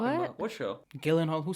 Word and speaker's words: Gyllenhaal: Isn't he Jake Gyllenhaal?